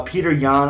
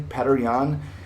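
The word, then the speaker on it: Petr Yan: that's really it uh peter yan i think peter yan is good i definitely like p better petter than you say his name is actually patteryon um b tier tj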